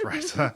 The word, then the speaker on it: Risa: Like what you remember when Risa or Risa, I call her Risa because I'm a member of the Rhode Island Songwriters Association and it's pronounced Risa.